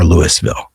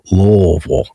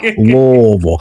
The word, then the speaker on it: Louisville: because locally we say Louisville. You know, just imagine your mouth is full of hot potatoes and you say it real Louisville.